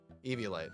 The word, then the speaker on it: Eviolite: Actually, no, a Violite sounds super wrong. Eviolite.